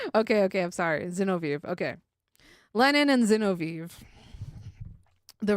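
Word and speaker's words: Zinoviev: Um Xenov pronunciation. Oh, Zenoviv.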